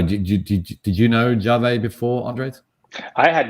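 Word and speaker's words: Yave: the of our startup competition um ya or jave not yeah it's it's built y-a-v-e but apparently pronounced jave um and this is uh basically um embedded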